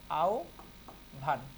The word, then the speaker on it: আহ্বান: যেমন একটা উদাহরণ আমরা দিই, বারবার পরীক্ষায় এসেছে, এই যে আহ্বান শব্দটা বারবার পরীক্ষায় আসে। দেখো এখানে হ বয়ের আগে কি আছে? অ বা আ আছে, তাইলে কি হবে উচ্চারণ? এই যে হ বয়ের পরিবর্তে ও ভ, তাইলে কি হলো? আউ ভান, আউ ভান।